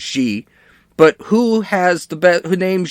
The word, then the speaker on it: Xi: It's actually pronounced Xi. But who has who named Xi? Xi Jinping of China.